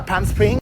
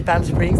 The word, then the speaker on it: Palm Springs: Il y a un H&M à Palm Springs. Ça doit être le truc. Pollux a du mal à prononcer Palm Springs, elle dit Palm Spring. Non, c'est pas un string, c'est un spring.